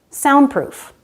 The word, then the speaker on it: soundproof: This happens in words like sandpaper, soundproof, landmark, windmill. We drop the D because it's between two other consonants.